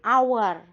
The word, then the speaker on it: hour: terakhir it is an hour tulisannya pakai hak konsonan tetapi dibacanya tidak ada huruf H jadi kayak ad-dari huruf a jadi hanya Hai It is our makanya pakai nkana didengarnya itu suaranya huruf vokal ya jadi penempatan dan